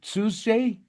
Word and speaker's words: Tzuji: You know that your fashion brand, how do you pronounce it? Suzuji.